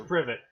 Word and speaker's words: privet: it set actually how that's supposed to be pronounced no it's privet but they all have been installed prove it